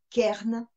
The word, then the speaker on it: cairns: s'appelle les cairns alors ça s'écrit ca y est reine maintenant comment ça se prononce kern ses pyramides de pierre